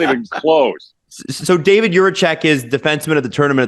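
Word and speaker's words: Jiříček: Now, if you really want to say it like a Czech, okay, it would be Juracek. Like you kind of roll that R a little bit.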